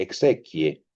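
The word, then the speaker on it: exequiae: La palabra exequias, usada siempre en plural proviene de una palabra latina que se pronuncia de modo semejante, exequie, y significa primero el cortejo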